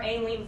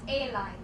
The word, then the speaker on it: Aileen: You are Aileen Frank, right? Yes. Actually, it's pronounced A-line.